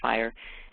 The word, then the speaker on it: FHIR: rated API that's called fire so fhir is pronounced fire and it stands for fast healthc care interoperability